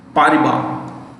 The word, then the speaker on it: Paribas: Paribas, S is silent.